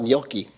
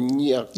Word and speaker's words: gnocchi: How about gnocchi? Same thing, right? You don't say gnocchi. It's got a little G in there, a little gnocchi.